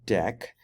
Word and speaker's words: deque: other one we want to talk about is deck right it's pronounced deck and it extends the Q interface let's see